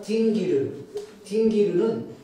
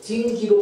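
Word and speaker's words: dingir: 따라서 수메르어에서 신을 뜻하는 딩기르는 이 R이 발음이 안 돼요. 딩기로 발음되었어요.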